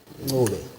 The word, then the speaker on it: Ncube: Actually, the right way to pronounce it is Ncube.